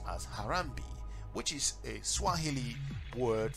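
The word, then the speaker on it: Harambee: a sense of national unity using the motto pronounced as harambe which is a swahili word for pulling together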